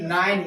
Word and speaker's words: nine: ठीक है, उसके बाद है हमारा NINE नाइन, नाइन में क्या होता है नौ, क्या होता है नौ। इसमें ई आ रहा है ना, ई का हमारे क्या कोई प्रोनाउंसिएशन उच्चारण नहीं हो रहा।